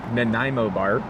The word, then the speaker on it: Nanaimo Bar: Up next we have Nanaimo Bar, which is the correct pronunciation because I asked.